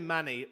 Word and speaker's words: Manny: Yeah, no, it's actually Manny. He pronounces. Oh, it Manny. different Sorry, my way, bad. but- My bad. Yeah, Sorry. so it's like you know what a manicure is, mani pedi.